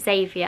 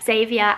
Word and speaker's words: Xavier: Harry's actually got a friend with this name at school, but everybody calls him Xavi, but I think you pronounce it Xavier, and I just think that's such a cool name.